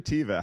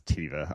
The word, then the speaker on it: Teva: I say Teva. How do you say Teva? I know some people say Teva. Yeah, it's not Teva, it's Teva.